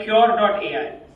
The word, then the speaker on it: Qure.ai: We built a system called Cure.ai, spelled with Qure.ai.